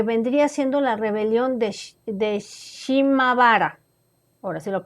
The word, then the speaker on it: Shimabara: Este incidente fue el detonante para lo que vendría siendo la rebelión de Shimabara, ahora sí lo pronuncié bien, que se prolongó desde el 17